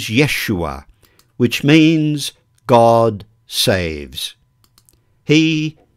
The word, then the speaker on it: Yeshua: The Hebrew pronunciation of his name is Yeshua, which means God saves.